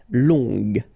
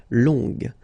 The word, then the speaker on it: longue: Okay, so long, remember you don't pronounce the final G, will become longue. Okay, so phonetically it's longue, g, longue.